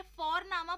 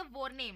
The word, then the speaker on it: Vorname: और हम यहाँ पे फॉरनामा प्रोनाउंस करते हैं बट लिखते हैं उसको VORNAME। ओके, तो वो हम इंग्लिश के अनुसार प्रोनाउंस करेंगे तो वो बनेगा वॉरनेम, बट नो, इट्स फॉरनामा।